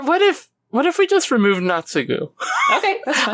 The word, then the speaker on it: Naotsugu: Well, I mean, it's generally Tsu is pronounced. So it's kind of just Naotsugu.